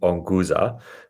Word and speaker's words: Onguza: right at the beginning onua uh is written the way you pronounce it which is part of